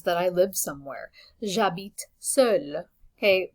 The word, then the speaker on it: seul: J'habite seul. Okay, the masculine and feminine version of this are the same pronunciation, just different spelling.